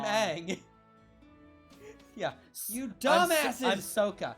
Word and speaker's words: Aang: My name's Ong. I'm Aang.